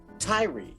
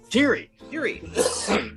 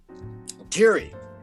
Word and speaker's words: Tiri: Well, Lele had a friend, Tyree. I believe that's how you pronounce it. Is that right, Tyree? Tiri. Pardon me. Tiri.